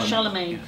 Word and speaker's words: Charlemagne: you um pronounce it charlemagne you are a charlamagne it depends whether you're american or british i guess too so dr charles